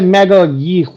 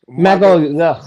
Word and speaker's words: Magalhães: How you say it? Good. I say Magalhães. Magalhães. Yeah.